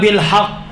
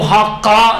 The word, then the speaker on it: بالحق: مثلا ربنا بالحق ہے تو حقا نہیں کہیں، کلمہ کو صحیح ادا کریں.